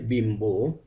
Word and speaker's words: বিম্ব: সঙ্গে যুক্ত থাকে সেক্ষেত্রেও ব এর উচ্চারণ স্বাভাবিক থাকে অর্থাৎ ব এর মতই উচ্চারিত হবে যেমন বিম্ব উচ্চারিত হবে বিম্ব গম্বুজ উচ্চারণ হবে গম্বুজ